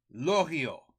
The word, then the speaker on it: Loriot: Lorio. Don't pronounce the T. It's French.